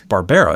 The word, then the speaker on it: Barbera: I've heard people pronounce it Barbara, but it's Barbera.